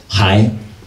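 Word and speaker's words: 孩: So this character as a whole means to arrive, pronounced dao, and meaning zhi, to arrive, right? Hai, child.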